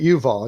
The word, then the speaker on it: Yuval: Yusev, or Yuval. I pronounce it Yuval.